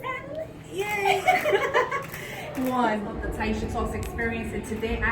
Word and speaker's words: Tyesha: The way the Korean accent is kind of smooth. So it's Taisha, so it's Taisha, because we divide it in syllables.